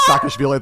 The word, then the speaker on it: Saakashvili: One, while it's playing and Saakashvili is being said, Nicole's lips were moving to pronounce Saakashvili the right way.